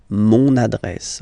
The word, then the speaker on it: mon adresse: mon adresse, my address, mon adresse. Okay, you can hear now this little link, so you get to pronounce this N. Mon adresse.